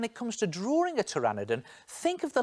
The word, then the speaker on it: pteranodon: Now, strangely, when it comes to spelling, pteranodon is spelt with a P. P is for pteranodon.